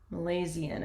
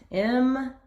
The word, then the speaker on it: Milesian: And then put got fleet from Malaysian, I think is how you pronounce that. Malaysian. Oh, it's an E. M-I-L. Sorry, guys. Milesian.